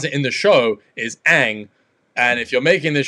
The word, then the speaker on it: Aang: it like differently to that but how they pronounce it in the show is aang and if you're making this show for like